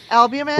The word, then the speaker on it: albumin: It's the U R I can't pronounce it U L B U M I N. Albumin? Random random ratio. Yeah. Albumin is your liver.